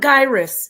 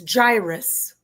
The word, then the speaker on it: gyrus: It's by the way, it's not gyus. It's gyrus.